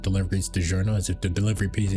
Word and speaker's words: DiGiorno: I know it's pronounced DiGiorno.